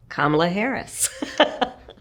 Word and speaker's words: Kamala Harris: How to pronounce Kamala Harris. Kamala Harris.